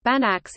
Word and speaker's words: Banach: specifically in functional analysis a Banach space pronounced bannocks is a complete normed